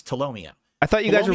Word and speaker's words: Tolomeo: he literally tomomo now I know how to pronounce his name it's tomomo I thought you guys were really good friends